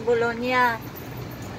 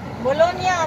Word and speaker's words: Bologna: Bologna pronounce, guys. G at N. Magkasunod, nya, nya. Nako, noong kararating ko lang, hindi ko alam. Di sa Italian, G and N, nya.